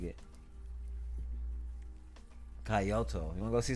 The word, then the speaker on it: Kyoto: You want to try to pronounce that word for me there? Kyoto.